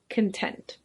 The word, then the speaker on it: content: and that's pronounced content but this adjective is pronounced content it means pleased or satisfied if you can